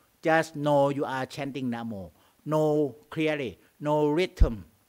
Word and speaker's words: Namo: Can you just know you are chanting Namo. No clearly, no rhythm. Na is short pronunciation. Mo is long.